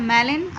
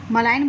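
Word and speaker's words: malign: यहाँ पर जी आपका साइलेंट है, मैलिन। मैलिन मीन्स योर, मलाइन बोल सकते हो आप, मैलिन बोल सकते हो, ठीक है।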